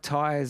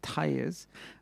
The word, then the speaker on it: Tellez: even get that right not like tires on the car but mata tires mata is an incredible